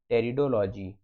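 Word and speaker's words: pteridology: जाता है अगला है रिडोल जीी सॉरी हां सही बात है रिडोल जीी इसकी स्पेलिंग पी से शुरू होती है तो टेरिडोफाइट्स का जो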